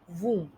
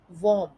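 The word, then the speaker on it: womb: वूम का गलत उच्चारण कुछ इस प्रकार से सुनाई देता है, वॉम या वूम्ब। बट इसका सही उच्चारण कुछ इस तरीके से है, वूम। वूम। तो शब्द बन जाता है वूम। इसमें बी साइलेंट है।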